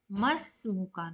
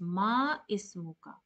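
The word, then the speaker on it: ما اسمك: Hamid says, Masmuka. Now, since this is Hamzatul Wasl and it is known for connecting the sound, so you should not pronounce as Ma Ismuka. You should go directly to Mas.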